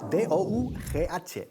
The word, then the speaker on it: dough: D-O-U-G-H. Pero se pronuncia dough.